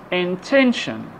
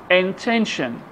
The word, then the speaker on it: intention: So the stress should be put on the syllable before T-I-O-N or S-I-O-N.